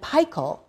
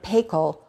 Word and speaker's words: Paykel: Zealand in the 1930s which is why we call it Fisher & Paykel and not Fisher & Paykel or Fisher & Paykel the pronounciation of course is based on where it was founded it's now in 60